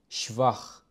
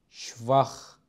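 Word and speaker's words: schwach: شتاك قوي شتاك قوي شفخ ضعيف شفخ ضعيف ونلاحظ هنا مثال اخر لنطق حرفين لس والها لماذا نطقوا على انهم خا خ شفخ السبب انهم سبقوا باحد الحروف الصوتيه بشكل مباشر ودائما انصحه بان تقوموا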